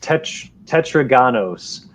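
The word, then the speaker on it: τετράγωνος: max already heard all this here it's uh pronounced tetraganos and uh here's my contribution and it means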